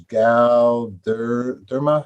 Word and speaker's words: Galderma: Galderma, is that how do I pronounce their name?